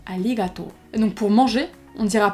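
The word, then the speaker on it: ありがとう: a merci et bon on dira pas arigato on dira Ali gâteau al alligato donc pour manger on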